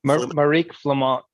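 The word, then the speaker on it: Marieke Flament: Marique Flamont.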